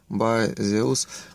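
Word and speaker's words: Baseus: Как там правильно читается? Bazeus.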